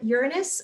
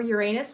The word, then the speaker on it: Uranus: And then Uranus or Uranus, depending on how you pronounce it.